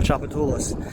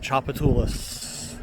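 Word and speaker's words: Tchoupitoulas: When you're in third grade, they make you learn how to spell Chapatulas. They make you learn how to pronounce it and make you learn how to spell it. T-C-H-O-U-P-I-T-O-U-L-A-S. Chapatulas.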